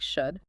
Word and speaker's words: should: The L is silent, so it just sounds like should.